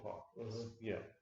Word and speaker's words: Plog: It's Plog as in toad, not Plog as in frog.